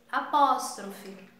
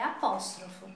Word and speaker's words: apóstrofo: Algumas pessoas pronunciam o apóstrofo em português apóstrofe, mas a pronúncia correta é apóstrofo, tá?